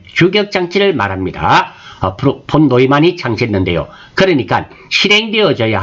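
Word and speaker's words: von Neumann: 폰 노이만, 폰 유만이라고도 합니다. 외국 사람이다 보니까 발음에 따라서 차이가 나는데요.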